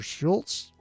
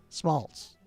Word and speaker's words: Schmaltz: Emmy Schmaltz or Schultz. It's Schmaltz.